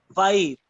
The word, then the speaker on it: phi: फाई, PHI, फाई। हाई फाई वाला high हटा के फाई, वाईफाई वाला वाई हटा के फाई बोलते हैं उसको।